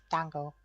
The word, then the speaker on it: dango: and yes I know it's supposed to be pronounced Dango but like I was I was I was